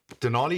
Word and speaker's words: Denali: Denali, you're flying out this evening. Talk to me about that, because it's not called Denali for nothing. It rhymes with Nali.